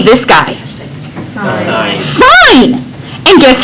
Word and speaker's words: sine: That's still sine. No sinning allowed. Okay? I'm sorry. I know that you were excited to sin all the time, but you must say sine.